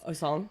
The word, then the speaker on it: Osong: Um I also forgot how to pronounce ask how to pronounce her name. Praxi. Yes. Osan.